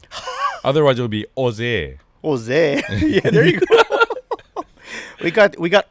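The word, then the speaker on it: José: that Jesus Christ yes in Spanish the J is silent technically not sudden it sounds like an H other words will be Jose Jose we got we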